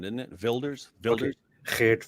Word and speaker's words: Wilders: Dutch um I think I think the W for them is a v like in German isn't it Builders vild Builders maybe yeah okay makes